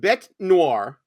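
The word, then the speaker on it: bête noire: okay so the uh it's actually pronounced bet Noir a person or thing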